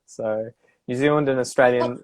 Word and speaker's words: Australian: because Americans always say Australian, Australian, and I would say Australian. I would use a schwa, that schwa Australian. vowel Yeah. sound at the start, so that it's the second syllable is where it's the stress is Australia, Australia, and you'll hear Australia.